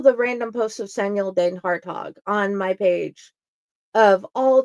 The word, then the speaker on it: DenHartog: And you did a great job pronouncing my last name. I should have asked before the show. I'm so glad I got it right. You did it perfect.